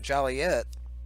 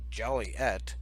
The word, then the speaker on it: Joliet: the right there there people's jolly yet town fathers reflecting the pet peeve of hearing their town's name mispronounced Joliette when all local folk know it's pronounced Joliet